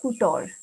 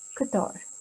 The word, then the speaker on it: couture: the katar category and the pronunciation of this guitar is katar it's not kutor it is kathar i would like to